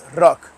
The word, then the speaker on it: Rrok: So that's the Albanian way of rock. But in Albanian, it's Rrok. You got to roll the R. Rrok.